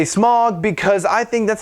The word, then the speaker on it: Smaug: Yes, I say Smaug because I think that's how it should be pronounced, but that's my own opinion.